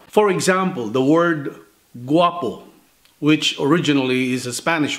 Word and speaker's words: guapo: Now, we still pronounce it exactly the same way, guapo.